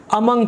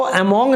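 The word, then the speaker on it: among: हम यूज करते हैं अमंग का। इसको अमोंग नहीं बोलेंगे, इसको प्रोनाउंस करते हैं अमंग।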